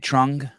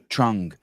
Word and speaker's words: Trung: Trung. Yes. Trung.